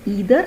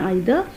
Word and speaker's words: either: You can pronounce the word as either and either, neither and neither. That is the difference between UK and American English.